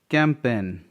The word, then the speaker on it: campaign: कैंपेन, CAMPAIGN. कैंपन मतलब होता है कोई अभियान.